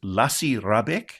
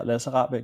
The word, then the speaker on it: Lasse Rahbek: with a documentarian called, forgive me if I mispronounce this, Lasse Rahbek. Is that a good pronunciation? Have I done all right? That's close enough, yeah. Lasse Rahbek, yeah, that's true.